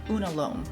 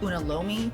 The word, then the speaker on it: unalome: As I researched some more, I finally came upon something called the unalome or unalomi, depending on how you pronounce it.